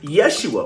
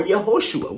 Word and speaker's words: Yeshua: real name was, and it was Yeshua or Yehoshua. We know that for a fact. And so, my question to them was then, well, now you you actually know how to pronounce the correct name for the son of God, why don't you do it? Right? If you know that his name is Yeshua, why are you using the term Jesus?